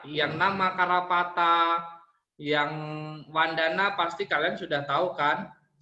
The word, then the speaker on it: vandana: temannya telinganya sakit Wesley mungkin ya dibaca wandana ngajarnya juga bisa membaca